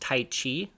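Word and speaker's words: Tyche: kind of done you see tight this is pronounced tight Chi she is the goddess of fortune and you'll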